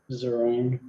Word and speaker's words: Zeringue: Is that how you say it? Zerang. Zerang. Zeringue. Zerang.